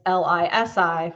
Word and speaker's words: LISI: I do not use a period after LISI, even though it's L-I-S-I for Legal Internet Solutions Incorporated. It is pronounced LISI.